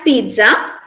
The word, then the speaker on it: pizza: it's pronounced as pizza some people some people uh in speakers of indian english they have some difficulties in pronouncing this word spelling is p i z z a uh but we include a t sound in our pronunciation it's not pizza it's pizza like you all said oh what about this